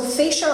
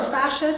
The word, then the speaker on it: fascia: Okay, so fascia or fascia, tomato, depending on how you pronounce it, that's definitely a very